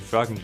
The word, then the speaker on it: Froggen: The pronunciation of my name has always been up to the casters. I'm just calling it Froggen because I'm Danish, and when you're ending sentences,